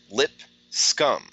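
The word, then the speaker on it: Lipscomb: the verdict online and it's pronounced lip scum thank you j93 appreciate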